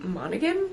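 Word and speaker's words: Monaghan: same time next summer Annabelle monan monigan that's how you say it it's blurred by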